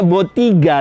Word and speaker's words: Bottega: Bacanya Botiga, tulisannya Bottega.